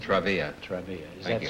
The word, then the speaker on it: Travilla: Travilla is the way you pronounce it? Travilla.